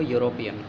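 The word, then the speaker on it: European: यूरोपियन, वैसे तो ई लगा हुआ है, ये बॉबल है, लेकिन इसका जो उच्चारण है वो यूरोपियन, यू से स्टार्ट होता है, यहाँ पर ए लगाएंगे।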